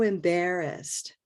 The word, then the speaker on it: embarrassed: So embarrassed. So embarrassed. Great. Yeah. So that word embarrassed has those 3 syllables, 1 stress, 1 color, either red or black.